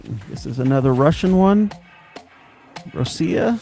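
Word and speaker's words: Rossiya: is another Russian one Rosia I believe is how you pronounce it yep Oh yeah I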